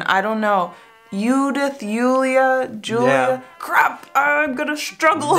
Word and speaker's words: Julia: J's in German I don't know you death Yulia Julia crap I'm gonna struggle how you wish